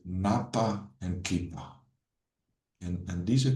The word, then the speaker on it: Ñawpa: So this concept, Ñawpa, it's pronounced Ñawpa, literally means in front, but it refers to the past.